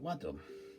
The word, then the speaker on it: Wadham: Like we have Birmingham, and we've got what else? Nottingham. You know, it's that Ham in the name.